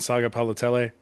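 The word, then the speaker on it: Sagapolutele: Um uh Geron Kiwan Saga Palotell. Got the name all the way right. Got all the syllables on it too.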